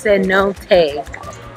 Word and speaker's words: cenote: gonna go and try in time the near cenote and jump in everybody to see though it's pronounced sin no take 10 or 30 years I'll say nothing I